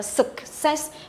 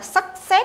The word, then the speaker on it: success: Đấy, success, đọc là success, không đọc là success nhớ nhá, mà là suc, âm thứ nhất mình đọc là suc, âm ơ, success.